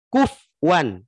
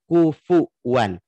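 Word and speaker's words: كُفُوًا: Kufwan. Jadi dibacanya kufwan, bukan kufuwan. Harusnya kan kufuwan.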